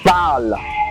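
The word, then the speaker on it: parlent: for example um um pal pal that is p a r l e n t okay now that ENT is silent you don't pronounce that ENT it is silent okay that is why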